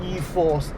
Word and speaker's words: e-4ORCE: version It's system named e-4ORCE But they replaced the letter "F" with "4" And the pronunciation of "4ORCE" It comes from the word "Four" So Nissan clearly understands